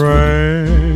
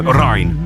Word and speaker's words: Ryan: Rain. No, Ryan.